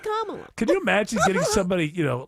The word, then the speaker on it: Kamala: Pronounced Kamala.